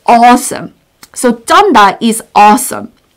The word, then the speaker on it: 쩐다: And this expression is 쩐다. There is a 투 지읒. 투 지읒. So it's double 지읒. And it's pronunciation is 쯔, 쯔, 쯔. So it has to be 쩐다, 쩐다.